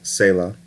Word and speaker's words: Selah: back in September 2018 track number three is called Selah although Kanye pronounced it say 'la Cayenne was seen working